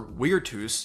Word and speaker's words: virtus: The Romans also had their own ideas, such as virtus, or virtus if you're a reconstructed pronunciation kind of person, which means manly virtue.